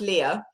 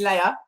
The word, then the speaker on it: Lea: Okay, well, it's pronounced Leah, but you Americans always call me Leia.